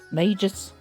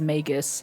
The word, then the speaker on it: Magus: Truth be told, until I heard Dame Men from Baldi's Gate 3 say it, uh I said Magis with a soft G because magic. But she says Magus and I'm inclined to believe her because she's tall and pretty tall big woman.